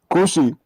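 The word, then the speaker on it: כושי: Kushi. It almost sounds like pussy with a K.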